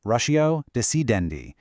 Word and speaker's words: ratio decidendi: The term is ratio decidendi. It's Latin, pronounced ratio decidendi.